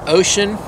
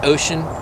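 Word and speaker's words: Wouxun: got my other two-way it's pronounced ocean to wuxon w w o u x o n or u-n or something like that but it's pronounced ocean it's another ham radio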